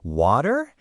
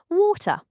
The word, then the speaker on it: water: Notice how I almost say a duh sound in the middle. Water? That's a very American thing. Whereas I pronounce the T very clearly. Water.